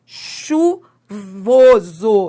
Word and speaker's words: chuvoso: Você pronuncia esse H? Não, você não pronuncia. Se você pronunciasse, sabe como é que seria essa palavra se você pronunciasse? Seria assim, ó, seaguva. Seaguva. Você teria que falar algo desse tipo. Não, esse H não é pronunciado.